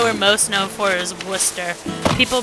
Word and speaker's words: Worcester: most known for is Worcester. People pronounce it, or people try to pronounce it like Worcestershire. I don't know why. It's just Worcester. Where are you getting the Shire part from?